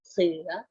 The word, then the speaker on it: เสื้อ: ฟัง ทรัพย์ 1 ครั้ง ซิ สอ เรือ เสือ เสีย ไม้ โท โอ เสื้อ เด็ก ๆ ลอง สะกด